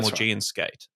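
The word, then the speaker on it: Maugean skate: And it is seriously endangering the prehistoric ray species, the Morian skate. Is that am I pronouncing that correctly? Morgian skate.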